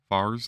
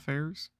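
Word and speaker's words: Fares: It's pronounced Fairs, not Fairs. Fars, not Fairs.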